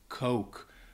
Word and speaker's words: Coke: to pronounce it but make sure that you are saying it with the long o sound Coke we had a student a while back who pronounced it with the short o and kept saying all